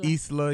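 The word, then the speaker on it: Islah: pronounce it Isla.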